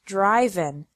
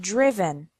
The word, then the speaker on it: driven: risen write wrote written notice that the sound of the I changes from the present to the past participle the present is drive and the past participle is not driven but driven subgroup three verbs ending